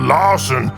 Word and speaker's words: Larson: I'm called Larson because it rhymes with arson.